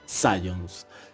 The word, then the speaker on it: Zajonc: Teoría de las emociones, teoría biologista de Sayon. Antes de hablar sobre esta teoría, conozcamos un poco a su autor. El autor Robert Sayon, que se pronuncia Sayons, fue un polaco-americano, psicólogo